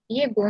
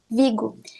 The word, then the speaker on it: Vigo: semestre na universidade de vigo na verdade se pronuncia brigo mas eu não consigo